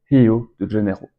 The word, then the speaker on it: Rio de Janeiro: quand je dis prononce, se prononce comme un H. Rio de Janeiro, Rio de Janeiro, se dit donc plutôt Rio de Janeiro.